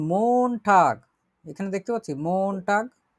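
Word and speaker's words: Montag: মন টাগ উচ্চারণ করি, মন টাগ মানে হচ্ছে সোমবার, সোমবার।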